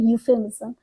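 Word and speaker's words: euphemism: pronounce कैसे होता है ये ई से स्टार्ट हो रहा है पर हम बोलेंगे यूस बिकॉज क्योंकि इसमें ई साइलेंट है ये वर्ड होता है यूफेमिस्म ये वर्ड इंग्लिश लिटरेचर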